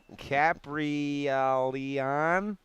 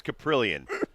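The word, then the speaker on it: Kaprielian: A's uh caprial Leanna Capri Al Leon that guy brilliant is that how you say it yes his name's caprillion you were really not close Samsonite yeah dude is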